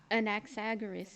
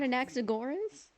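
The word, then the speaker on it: Anaxagoras: An axaras. Is that how you say it? It's not an axorus as I've always thought.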